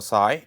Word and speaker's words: psi: This is pronounced psi it is pronounce as psi, it is Greek letter.